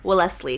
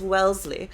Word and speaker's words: Wellesley: um so the West I always want to say well Leslie cuz that's how it's spelled but it's Wellesley felt like you spread